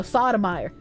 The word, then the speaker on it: Sotomayor: No, Sotomayor. Because you're pronouncing it wrong.